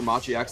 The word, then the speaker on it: Machi: was so hard for machiax to actually execute any of this um i'm sorry i shouldn't pronounce the x machi e sports uh to execute silent right yeah yeah the x is silent this hasn't been the